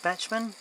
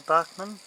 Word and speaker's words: Bachmann: are made by Bachmann some people pronounce it batchman it's probably supposed to be pronounces Bachmann they look from down